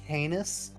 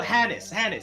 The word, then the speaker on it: Hannes: You said the guy's name was Heinous? No, Hannes.